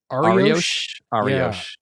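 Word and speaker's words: Arioch: You have Ariosh. Ariosh. Yeah, Ariosh. Yeah. Yeah. Ariosh I have the to remember that you say her name as if it's a type of baguette.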